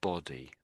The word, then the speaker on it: body: It You put You weren't quite saying buddy, but you Yeah. Somewhere between the two.